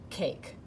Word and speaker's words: cake: a say its name so then for this word cake the a is saying a so it goes k which is a c and then a silent e makes that a say a it's not going to say anything at the end of the word though so it's going to go a k cake our two words this